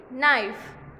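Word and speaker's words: knife: वैसे ही नाइफ, यहाँ पर के साइलेंट है, NIFE सुनाई देता है, नाइफ, के नहीं सुनाई देता पर लिखने में तो आता है।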